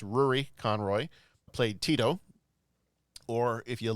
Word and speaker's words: Rúaidhrí Conroy: me on this, but I believe the name is pronounced Rúaidhrí Conroy, played TIto.